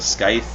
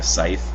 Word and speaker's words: Scythe: cruisers you have a skype or scythe excuse me this C is not supposed to be pronounced they repaired other ships